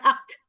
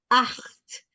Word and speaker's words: acht: Bukan akt, acht. CH dibaca acht ya.